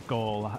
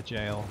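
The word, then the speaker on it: gaol: is a jail um a goal a jail as you're supposed to pronounce it a jail jail think it's irish yep here are the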